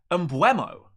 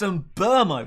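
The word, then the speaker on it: Mbeumo: But his name isn't Mbuemo. It's Mbermo. He's French. It's an sound. Mbermo. Not Mbuemo. There's no we.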